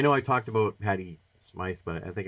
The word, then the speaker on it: Smyth: Now I know I talked about Patti Smythe, but I think I said her name was Patti Smith. I don't even know how to pronounce it. I thought there was an E at the end of it.